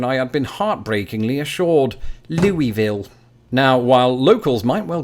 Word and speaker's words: Louisville: for stopping short of Louisville they might as YouTube commenters have in the past remind me that they somehow articulated in just two and a half syllables Louisville the city was named